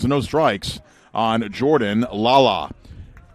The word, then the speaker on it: Lala: no strikes on Jordan Lala spelled like the way it sounds l-a-l-a Ken Banning 412 a